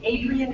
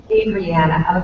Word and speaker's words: Adriana: Is it Adrian? Is that how you pronounce her name? Adriana, okay. She was just put on bed rest.